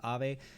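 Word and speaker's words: Aave: high percentage gains you look at it in comparison to some of the other things a or ave or i believe how you pronounce it as ave that's gone up quite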